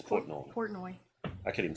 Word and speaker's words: Portnoy: I think it's Portney. No, it's Portnoy. I think it's Portney. No, I know who it is. Dave Portnoy. Oh really? Yeah. Dave It's Portnoy.